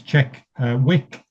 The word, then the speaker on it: Tjekvik: company name um so the DV is basically a w so it's Czech Wick um it's a it's a Danish word um and that's what